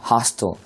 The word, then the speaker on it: hostile: 그러니까 hostile이라고 읽든 hostile이라고 읽든 강하게 읽는 부분은 하로 정해져 있는 거죠.